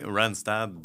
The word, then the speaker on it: Randstad: Pour, je le prononce bien, Randstad? Oui, Randstad, qui est une multinationale d'agence de placement.